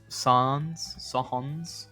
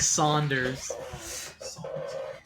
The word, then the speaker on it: Sans: fans don't at me how do i communicate the pronunciation sons sons the sands of time smoothie groovy songs oh no like saunders yeah that's as foolish as thinking bernie sanders his name is bernie saunders i'm very sorry that's the that's the same wrong pronunciation the same trap you fall into saunders and songs oh oh